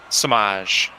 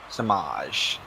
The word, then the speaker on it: Semaj: How do you pronounce his name? Samaj. Samaj.